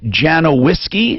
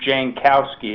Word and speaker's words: Jankowski: He's with White and Janowiski, is that it? Janowiski, did I pronounce it? Janowski? Let's talk to Alan. Alan Curtis, what is the name of your firm, sir? White and Jankowski. Jankowski, got it.